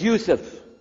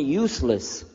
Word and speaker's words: Yousef: inallah my name is Yousef can you say Yousef you say Yousef you're very good I wish youd teach my wife she keeps mispronouncing it she calls me useless alhamdulillah now how many